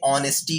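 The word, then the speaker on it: honesty: ऑनेस्टी mains ईमानदारी और इसको ऑनेस्टी नहीं बल्कि ऑनेस्टी कहा जाता है यहां ह साइलेंट है दर्द ब्यूटी खूबसूरती इन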